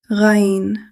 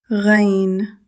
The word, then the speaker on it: غ: This letter comes from the upper part of the throat. It is slightly higher than the articulation point of Ayn. You should feel a gentle vibration in the upper throat while pronouncing this letter.